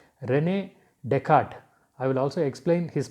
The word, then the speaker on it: Descartes: concept also in the next page about rene descartes so his name is pronounced as rane descarte so that yes is silent after r is silent